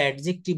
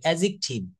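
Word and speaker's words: adjective: উচ্চারণ করি যেমন আমরা এডজেক্টিভ বলি এটা কি এডজেক্টিভ হবে এখানে কিন্তু ডি টা হচ্ছে সাইলেন্ট লেটার থাকবে এডজেক্টিভ এডজেক্টিভ তো এই স্পোকেনের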